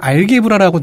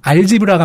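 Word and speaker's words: algebra: 그 대수학을 알게브라라고 저랑 유형이 발음을 했는데 네. 한 수학 전공자께서 트위터에서 아, 알게브라라고 발음하는 거 들으니 답답해졌다. 근데 뭐가 맞는 발음인지는 얘기 안 해주시더라고요. 찾아보니까 예. 알지브라가 맞는 거예요. G인데 이걸 개가 아니라 Z로 발음하더라고요.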